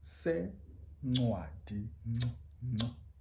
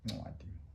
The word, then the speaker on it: sencwadi: Sencwadi. Again, to the front of the tongue, front of the mouth, the tongue. Sencwadi.